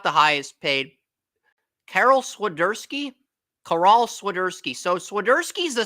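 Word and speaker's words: Karol: he's Carol sersi with Carol with a K pronounced caral okay sersi only started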